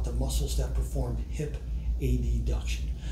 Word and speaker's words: adduction: muscles that perform hip ad duction I will use the pronunciation a deduction instead of adduction because it is easier to differentiate between a deduction and a duction compared to adduction and abduction a deduction is when